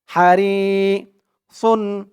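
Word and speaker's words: حريص: জের পরে ইয়া সাকিন হারি সুন দুই পেশন হারি সুন একেবারে সুন বলা যাবে না সুন বললে কিন্তু এখানে সিনের উচ্চারণ চলে আসবে যেহেতু এখানে সদ তাই সদের উচ্চারণটাই করতে হবে সদ দুই পেশন সুন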